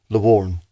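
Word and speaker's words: lowarn: Okay, you better pronounce it a couple of times. Lugudgeon. Lugudgeon. Lugudgeon. The word for fox is Lawarn.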